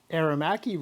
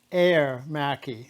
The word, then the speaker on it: Aermacchi: from someone else, and they say that I'm pronouncing Aermacchi wrong. I've been saying it the same way for a lot of years, and he thinks that I should say it Aermacchi.